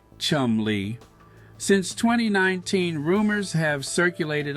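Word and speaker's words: Cholmondeley: she is properly known, the Marchioness of Colbert, pronounced Chumley.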